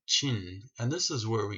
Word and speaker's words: Qin: and the Qin Dynasty even though it's spelled with a Q it sounds like Ching and this is where